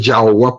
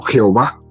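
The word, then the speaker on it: Yahweh: los testigos de jehova como no sabía pronunciar pues en el momento que escuchó el nombre de dios yaohua pues se le hizo muy difícil le dijo no jehová así se quedó ya agua no no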